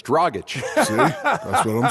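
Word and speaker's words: Dragić: because no one could pronounce the name dragic because it's dragach see that's what i'm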